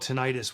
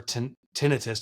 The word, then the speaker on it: tinnitus: I had this thing, it's called tinnitus, or tinnitus, depends where you are, how you pronounce it, but it's ringing in the ears.